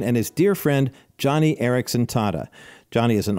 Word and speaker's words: Joni: autobiography which became a movie called Johnny and that's spelled j o n i she was an integral